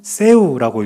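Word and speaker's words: Θεοῦ: 세 번째 단어는 세우라고 읽습니다. 하나님의 뜻이에요. 그리고네 번째 단어는 휘오스라고 읽는데 이것은 아들이란 뜻입니다.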